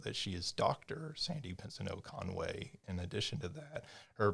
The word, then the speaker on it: Pensoneau-Conway: director of the school of communication studies sandy pensino conway did i get the pronunciation i did congratulations thank you it's one